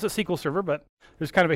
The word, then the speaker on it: SQL Server: another one see sequel server that's Microsoft's they pronounce it sequel server but there's kind of a history there if